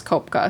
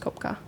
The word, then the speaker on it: Kopeke: name so you can spell it yeah it's Copa so it's spelled k o p e k e spelled like copi but it's spelled or it's pronounced Copa um so from Juliana's crash um she which